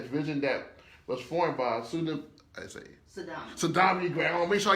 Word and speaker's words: Saudamani Gray: Saudamani Gray, because I always get your name right. I always get your name wrong. Pronounce it wrong. So, Saudamani Gray.